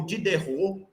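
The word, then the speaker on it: Diderot: enciclopedista da época didou did derou ou de derou did derou T não se pronuncia no francês tá de derou tá que eram colegas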